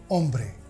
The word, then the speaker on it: hombre: as in gancho gomma it's never pronounced it remains silent in any spanish word like hombre eho this letter is